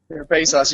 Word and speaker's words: Serepisos: With, you know, Serepisos, Serepisos, Serepisos. Serepisos.